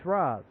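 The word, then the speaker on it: Ra's: one thing okay for me Batman Begins he's Ras you know why he's Ras because that's how he pronounces his own name this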